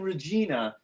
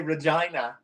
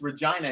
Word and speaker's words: Regina: And he said, tomorrow we're playing in Regina. And I'm like, that's not how you say it, man. You say Regina. And he like busted out laughing. He's like, are you serious? I'm like, yeah, it's Regina.